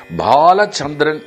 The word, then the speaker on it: பாலச்சந்திரன்: பா அப்படின்னு சொன்னால் சமஸ்கிருதப்படி அப்படி இல்லை, BHAA, அதாவது அழுத்தமாக பா என்பதே சரி, PAPHA அந்த பா கிடையாது என்று சம்ஸ்கிருதத்தில் இந்த பா